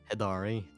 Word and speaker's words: Hidari: the wedding of hedar is it hader hadar how do you say your name hidari hidari and his wife-to-be ezville